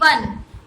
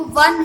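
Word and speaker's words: one: उसके बाद वन, ओ एन ई वन, उसका जो प्रोनाउंसिएशन है वो वन है, व वी, और उसका जो स्पेलिंग है वो ओ से स्टार्ट हो रहा है, तो यहाँ पे कॉन्सोनेंट ही हमें कंसिडर करना है।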